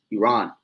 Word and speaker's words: Iran: So when you go into the history around 1935 is where the name changed from Persia to Iran or Iran, is really how you say it, Iran.